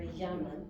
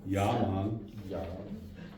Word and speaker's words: llaman: Okay, and the double L in the first measure at the bottom of 3 is a Y. Remember, llaman. Okay. Yaman.